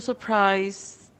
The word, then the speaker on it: surprised: Sometimes D sounds like T, like in this word, surprised.